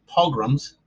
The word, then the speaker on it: pogroms: Jewish persecution during the pogroms. That's how that's pronounced.